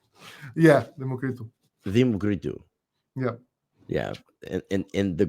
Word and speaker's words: Democritou: Yeah, because the correct pronunciation of your name, if I remember, Zeus is in Greek. Democritou. Yeah, Democritou.